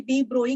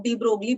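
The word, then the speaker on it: de Broglie: Bore के बाद bore के ही स्टूडेंट थे जिन्होंने डी ब्रोगली हाइपोथेसिस दी, डी ब्रोई कहते हैं उसकी करेक्ट प्रोनाउंसिएशन, कुछ लोग डी ब्रोगली बोल देते हैं, कुछ डी ब्रोई कह देते हैं।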